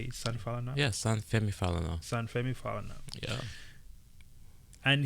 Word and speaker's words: Femi Falana: Yeah, San Femi Falana.